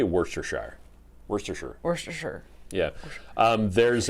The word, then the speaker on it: Worcestershire: england they don't say it's not pronounced shire it's pronounced sure wurster yeah actually they might even say worcestershire worcestershire or sure yeah